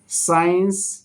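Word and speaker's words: science: এখানে এখানে সাধারণত সির উচ্চারণ হয় না। সিন মানে দৃশ্য। সাইন্স।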